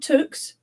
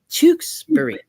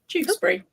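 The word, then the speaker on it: Tewkesbury: the time are you no not Tukes chuk ch tuxbury tuxbury so um it took me years to learn to say that which is why I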